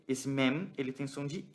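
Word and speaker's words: מם: Mem. Lembra de pronunciar o M fechado, Mem.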